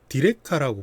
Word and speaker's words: 디레카: 저희 제품은 이름 명칭은 디렉카라고 불러요. 그 디렉카가 아니고 디렉카입니다. 네. 발음을 자꾸 디렉카라고 하시던데 그냥 뭐 발음이야 그렇지만은 뭐 그냥 디렉카라고 부르고요.